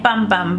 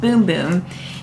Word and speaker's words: Bum Bum: Brazilian bum boom cream it looks like bum bum but it's pronounced boom boom and I used this